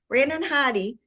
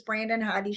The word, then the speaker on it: Brandon Hodde: That's really bad of me, Brandon Hodde, for your music.